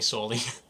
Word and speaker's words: Saul: call me it uh say it's spelled s a u l like uh like Paul but with an S can I call you